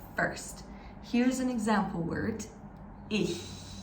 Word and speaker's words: ich: Here's an example word, ich. Ich means I in German. And ich is pronounced at the back of your throat when your throat is really, really tight.